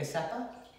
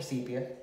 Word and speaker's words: sepia: the gene to make a sepa or sepia depending on how you want to pronounce it or me right just